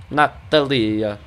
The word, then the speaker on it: Natalia: Say it with an Italian accent. I know, that's literally what it was like when I looked it up. It was like, Natalia. Like, that's literally how you say it.